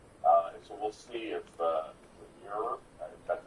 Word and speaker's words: Muir: And so we'll see if Muir, that's how you say his name.